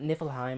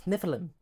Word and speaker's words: Nephilim: so the Nephilim yeah I know it sounds like I'm mispronouncing the land of the land of the Gods but no it's not niflheim it's Nephilim yeah sounds like a sneeze these people who wrote